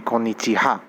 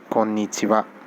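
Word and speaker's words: こんにちは: nichiwa this should be konnichiha but the thing is the the funny thing about the ha alphabet is when ha sits in the end it's generally not pronounced as ha it becomes so in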